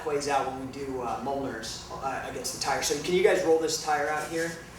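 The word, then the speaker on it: Mjölnir: called a Mjolnir, and it's spelled very weird. It doesn't. It's not phonetic. It's Mjolnir, and it's a reference to Norse mythology.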